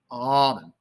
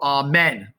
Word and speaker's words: almond: and almond all right almond almond we want to go ah men amen we don't want that almonds just a lot less emphasis on the second half of the word almond and then there's